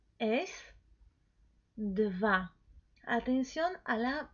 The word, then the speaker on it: dva: Entonces, nuestro número 2 es dva. Atención a la pronunciación, ¿sí? No es we, es v.